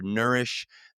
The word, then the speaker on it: Neurish: mental clarity, then check out our new sponsor, Nourish. That's spelled Neurish.